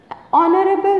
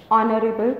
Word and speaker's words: honorable: Oh one rupee no we use an before silent H that is the word